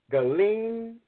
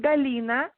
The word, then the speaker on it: Galina: very tough first guest galine I'm hoping I'm pronouncing her name correctly if I'm not please correct me really yes there yes my name is galina you can run yeah